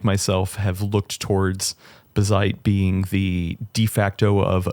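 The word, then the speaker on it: Bazzite: Somebody told me it rhymes with jazz. Bazite. No. It's Bazite.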